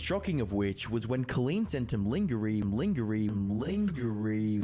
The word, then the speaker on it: Colleen: So he said Colleen's name incorrectly. He said Colin or something like that.